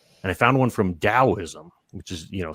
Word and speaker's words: Daoism: And I found one from Daoism, which is, you know, sometimes pronounced Taoism here because it starts with a T.